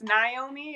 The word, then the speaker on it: Naomi: If you're from the East Coast, it's Naomi.